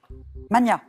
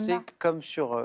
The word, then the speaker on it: Magna: Mania. Oui, ça c'est oui. En français, on entend souvent mania, et en fait, on doit le prononcer Magna. comme pour Magnus.